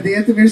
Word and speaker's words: The Anthemeers: Anthem as in national anthem. Correct. Ears as in Musketeers.